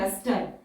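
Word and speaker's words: lustre: Word है लस्टर, E हमारा silent है, STR के लिए लूप आ जाएगा, लार्ज लूप।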